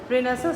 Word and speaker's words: Renaissance: इसको हम लिखते हैं रेनेसांस, लेकिन बिकॉज़ ये एक फ्रेंच वर्ड है, इसका जो प्रोनाउंसिएशन है वो रेनेसां, जो कि 1500 से स्टार्ट होके 1660 तक था।